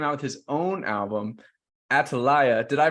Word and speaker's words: Atalaya: Des here recently came out with his own album, Atalaya. Did I pronounce that right? Yes, you did. It's pronounced Atalaya.